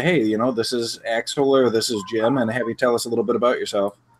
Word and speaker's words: Axel: say, hey, this is Axel or this is Jim, and have you tell us a little bit about yourself. That works. Very good. And I'm saying it right, Axel, like Axl Rose, right?